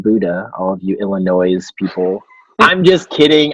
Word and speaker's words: Illinois: Buddha all of you Illinois is people I'm just kidding I'm from Illinois I know it's not pronounced with an S group in the Quad